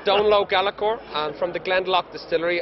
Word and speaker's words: Donal O'Gallachoir: rest of the world we like to make things hard to pronounce it's uh don low galor and from The glenlock